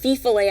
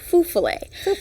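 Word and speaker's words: fifolet: So I got to tell everyone the legend of the fufale, and I would like to point out that I thought it was pronounced fifale at first, but I interviewed a former folklore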